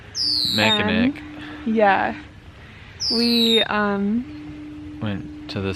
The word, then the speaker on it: Mackinac: The one spelled with a C, not a W. Mackinac.